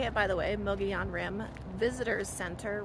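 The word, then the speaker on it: Mogollon: now my son I am stopped at the Mion Rim that's how you say it by the way Mogan Rim visitors center right off the a 260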